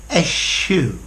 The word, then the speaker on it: eschew: Eschew or eschew. I would always say to eschew, but both pronunciations are possible.